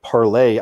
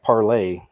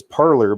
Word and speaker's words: Parler: CNN says conservatives joining Twitter alternative Parlay. I think it's pronounced Parlay. It looks like it's Parler, but isn't it Parlay? Anyway, check this out.